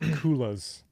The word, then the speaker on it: coulis: It's pronounced coulis. What? No. Coulis? Coulis.